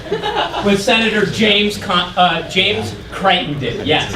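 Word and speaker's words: Crittenden: Senator James uh James Crichton did yes I don't know why that is pronounced frightened in but it is okay um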